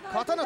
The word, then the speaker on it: 真剣: ましたねはい真剣と書いて刀と読みますこのハイキックさらに